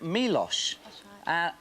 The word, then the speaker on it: Milosz: Ford hi Georgia with your cat Milosz which bizarrely enough rhymes with pre-wash which is what me